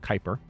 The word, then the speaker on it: Kuiper: in the Kuiper system that is pronounced Kuiper I know this because our solar system has a Kuiper belt it's out near Pluto